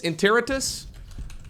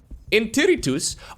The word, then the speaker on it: Interritus: long time ago um pronunciation of this map by the way in in territis interritus Google translate let's see what does Google tell me in territus oh it actually automatically detected Latin